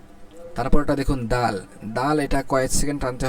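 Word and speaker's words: دال: দাল দা ঠিক আছে এটার উচ্চারণের মাখরাজটা বলা হচ্ছে জিহ্বার আগাকে সামনের উপরের দুই দাঁতের গোড়ার সঙ্গে লাগায় দুই দাঁতের গোড়ার সঙ্গে লাগায় উচ্চারণ হয় সেটা হল দাল তাহলে তাটাও যেমন দুই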